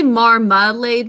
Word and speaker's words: marmalade: We say marmalade because that middle syllable is unstressed, but we think to spell marmalade.